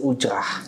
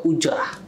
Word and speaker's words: ujrah: Nah, akad ini dipergunakan dalam pemberian kuasa dari satu pihak kepada pihak lain untuk pemberian imbalan atau ujrah. Ujrah. Itu adalah pelafalan saya sudah benar. Ujrah. Sudah bagus banget.